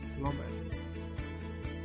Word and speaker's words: plumbers: We have two plumbers. I didn't pronounce plumbers. Plumbers. The B is mute there.